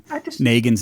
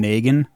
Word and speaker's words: Negan: And I think that you were wrong to try to apologize for them just like how you're pronouncing Negan's name Negan. It's Negan. That's what I said.